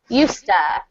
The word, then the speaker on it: used to: Used to, when pronounced quickly, sounds like used to.